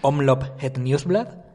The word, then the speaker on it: Omloop Het Nieuwsblad: 29 de febrero empezamos con la Omloop Het Nieuwsblad, que se pronuncia... Sí, Omloop Het Nieuwsblad. Fantástico. Nieuwsblad es casi terminada en una T, esa D.